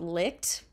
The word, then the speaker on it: Licht: mom for suggesting this there is a website called lit I know I know it's not spelled like lit it's a little different but uh Licht allows